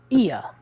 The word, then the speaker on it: Ia: When the vibrations of vocal cords still required to convey our thoughts and intentions, Ia, I believe, was the pronunciation used when referring to our people.